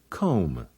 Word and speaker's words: comb: to read English fun when an M is before a be the is silent like in these words lamb limb climb comb can you think of